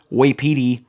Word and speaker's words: Wapiti: And it's spelled like Waipiti. Yeah. Wapiti. Yeah. Wapiti. And now you might be thinking of White Petey, the Hidden Machine mascot. But no, it's Wapiti. Wapiti.